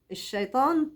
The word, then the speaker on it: الشيطان: حد بيقول منشط خالص لكن ليه لما نيجي ننطق الشيطان ده انا عظم حروفه هو ما يستاهلش التعظيم اصلا ما يستاهلش الشيطان ما يستاهلش التعظيم نرقق حروفه من الشيطان عارفين شيء شيء شيء